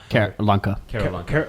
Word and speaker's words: Keralanka: Keralanka.